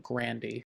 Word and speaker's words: Grande: that AR a grande his last name is pronounced like Grandy my grandpa said Grandy